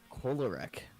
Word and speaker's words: Kolarek: Adam Kolarek. I think that's how you pronounce his last name. Adam Kolarek. is Choleric.